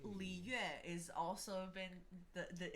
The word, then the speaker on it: Liyue: The trick with a lot of the Chinese words is that it sounds like 2 syllables in one. Okay. So it's like yue. Just make it Yue. one. Yeah. You eh? Yeah. Okay. So It's you just have to do it Yue. like as 1 syllable.